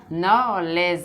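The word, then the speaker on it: knowledge: ये क्या हो जाएगा, नॉलेज, नॉलेज हो जाएगा, लेज, लेज, ये डी पढ़ा नहीं जाएगा, लिखा बेशक जाएगा, नॉलेज, नॉलेज से कहते हैं हमारे पास ज्ञान का भरमार इकट्ठा हो जाएगा, राइट।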